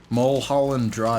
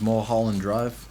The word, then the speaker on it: Mulholland Drive: Mulholland Drive. It's like saying Marlboro. It's how you pronounce it, is Mulholland Drive.